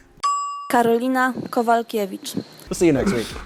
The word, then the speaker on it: Karolina Kowalkiewicz: Carolina Kowalczyk. Kowalczyk. Do you see a Chuck in there anywhere? Karolina Kowalkiewicz.